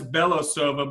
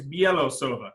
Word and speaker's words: Belosuva: And I actually think, if I remember correctly, everyone says Belosuva, but I think she says the proper way to say it is Belosuva.